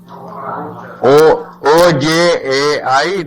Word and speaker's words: Ojai: O-J-A-I, they pronounce it as Ojai.